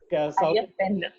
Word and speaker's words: Ayyappan: बट for example Maharashtra में विट्ठल है, केरला में उन्नयप्पम, sorry I am taking the wrong, sorry, Ayyappan, my mistake. Ayyappan, not Pum. Okay. Kerala में Ayyappan भगवान है, if I'm getting the pronunciation correct.